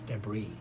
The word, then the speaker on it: debris: all over the desert or deis no it's debris well there's an N why isn't pronounced debah yeah but if Phil finds it